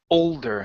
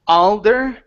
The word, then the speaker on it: older: go to the word older here and so instead of saying aler it's older older older good good that's